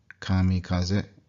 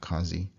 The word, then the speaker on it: kamikaze: Kamikaze. Kamikaze. Not kazi.